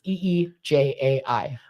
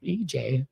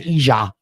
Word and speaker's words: EJ: No, it really is. It's EEJAI. Oh, I understand now. Yeah. Okay. Yeah, people all the time they're like, "Is your name Elizabeth Emily?" No, it's EJ. It's really EJ, and in German it's Ija.